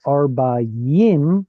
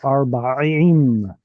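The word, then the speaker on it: ארבעים: So anytime you see it, please, please, please try and avoid pronouncing it as a Y. This is not arbayim, but rather arbaim.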